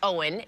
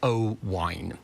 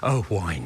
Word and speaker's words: Owain: realize that that was Owen and but is that the is that a Welsh spelling it's a Welsh name now if you want to be really Welsh it's pronounced oh wine so I always say